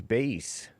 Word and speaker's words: Bass: Is that Bass or Bass? Bass. Bass. Cuz they're confusing me now. The black man tried to tell the black man what a word spell. I said bass. He tell me it's bass. But it's bass, right? It is bass. It's base. I never knew that.